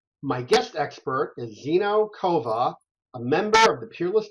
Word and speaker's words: Kovah: talk to you great did I uh pronounce everything correctly it's legor and your last name is kova yep that's correct okay great just wanted